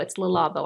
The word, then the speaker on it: Labo: How do you say it? Is it Labo? Labo. It's Labo. I always have to say it twice before I get it right.